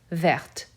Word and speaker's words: verte: Because of that consonant before the E, now that T will be said. Vert, verte.